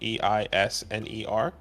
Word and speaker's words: Eisner: E-I-S-N-E-R.